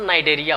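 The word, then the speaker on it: Cnidaria: तो नाइडेरिया को हमेशा सी से लिखते हैं, लेकिन सी वाला सब टर्म को प्रोनाउंसिएशन नहीं करते हैं। इसका जो करेक्ट प्रोनाउंसिएशन नाइडेरिया होगा।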